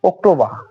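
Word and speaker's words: October: September September September এইরকম এখন পরবর্তী অক্টোবর আর সাইলেন্ট এখানেও আর সাইলেন্ট থাকতেছে অক্টোবর অক্টোবর অক্টোবর অক্টোবর এভাবে এখন পরবর্তী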